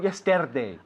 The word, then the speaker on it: yesterday: But not yesterday. Ah, no. Yesterday. Yesterday. Yesterday. Yesterday. Yesterday. Yesterday. Yesterday. Day. Okay. Repítelo. Yesterday. Yesterday. Yesterday. Ok, no hay rastro de R ahí.